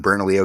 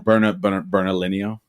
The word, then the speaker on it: Bernalillo: Because you the same way, we're in Bernalillo County, but we don't live in Bernalillo.